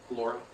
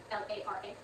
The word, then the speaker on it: Lara: I thought that was pronounced Lara. He's pronouncing it Laura, but the prosecutor's also